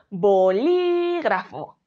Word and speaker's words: bolígrafo: creemos que es bolígrafo cuál es la manera correcta de pronunciarlo decir bolígrafo verdad marcando en mí esa sílaba tónica y por último vamos